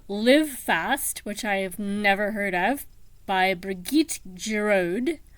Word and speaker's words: Niamh: I know that the first part is Neve, which would be Irish. Ordinary Saints, Niamh, Neve.